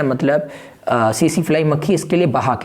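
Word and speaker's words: tsetse: इसके लिए कौन जिम्मेदार है, इसके लिए सीसी फ्लाई मक्खी। देखो टी यहाँ साइलेंट है, ठीक है, सीसी, टीएसई, इसे वो पढ़ेंगे, क्या पढ़ेंगे, सीसी फ्लाई मक्खी।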